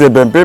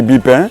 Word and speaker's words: Ebimpé: D'autres disent Ebempe, mais moi je dis Bipin parce que j'ai l'habitude de prononcer ce nom-là en Akie.